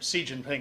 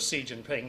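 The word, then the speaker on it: Xi Jinping: surprise and they I don't know how they pronounced his name si Jinping as the name the way I pronounce it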